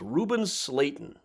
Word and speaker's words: Slayton: Out here at Forest Home Cemetery by the interstate is Reuben Slayton. His name rhymes with Satan.